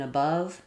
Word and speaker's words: above: So yes, as you can see, we have the schwa, unstressed schwa, and the stressed schwa in above, and the ah vowel like in all in the word all, above all.